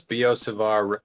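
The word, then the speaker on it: Biot–Savart: reading another book today it says beo Savar rhymes with Leo bizaar I I think we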